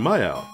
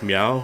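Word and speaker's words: Myau: name I'm Maya now that could just be a simple syllable thing like meow or it could even be me out I don't know but as a kid I always called him my house so I'm gonna stick with that my al have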